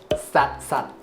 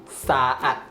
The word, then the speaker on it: saat: The most local way is just saying that sat. Although the pronunciation for this word is saat, but in spoken form, we will just say as sat.